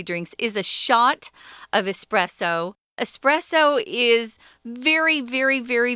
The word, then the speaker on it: espresso: day but uh yeah espressos which i have to mention here a lot of americans at least mispronounce this word they say expresso like there's an x in it like express meaning fast no this is an